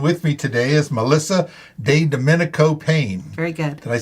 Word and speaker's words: DeDomenico-Payne: examiner studio and with me today is Melissa de Dominico Payne very good did I say did I get perfect yeah yeah I butchered the name sometimes you know that's okay